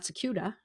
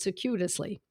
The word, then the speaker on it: circuitously: Remember, and this is what I think causes the most confusion in homeopathy, is that people come to homeopathy circuitously, not circuita, but circuitously.